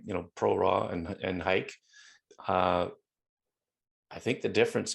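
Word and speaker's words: HEIC: care what apple says apple pronounced it heat i'm saying hike let's make hike happen everyone um if you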